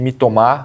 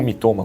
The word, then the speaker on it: Mitoma: não lembro nada, mas a sílaba tônica geralmente é a última. Então, vamos de Mitoma, apesar de me sentir o francês quando eu falo assim. Ou Mitoma, como você quiser.